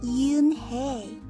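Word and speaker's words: Unhei: Yes, it's pronounced Eunhae. And it means grace, Mr. Kim added. Eunhae, Joey said slowly, and this time perfectly.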